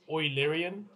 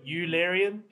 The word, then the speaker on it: Eulerian: way i pronounce it it's apparently oilerian like boy not eulerian larian okay so if i